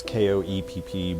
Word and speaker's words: Koepp: The whole thing, like one of the screenwriters, his name's David Koepp. I guess David Koepp, maybe that's how it's pronounced. It's Koepp, but that aside, the thing I like about